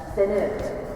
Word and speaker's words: Faneuil: regulations or maybe Daniel, rhymes with Daniel. The word privilege, that's the most common pronunciation. There are others. In Boston, that's how we say it? Yes. Although you get purists that say it's more like Fenil.